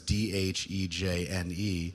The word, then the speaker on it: Dhejne: down because I don't want to get the name wrong, the Dhejene study, that's Dhejne, which is a long-term study in Sweden which